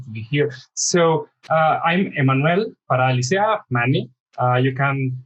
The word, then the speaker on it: Emmanuel: Yeah, in Spanish it's Emmanuel, but it's very difficult in English, so most of the people call me Manny.